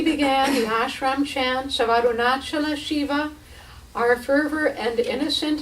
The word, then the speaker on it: Arunachala: And he also pulled us up on our pronunciation of the holy name of Arunachala, as we had been doing it in the North Indian style, chanting Arunachal.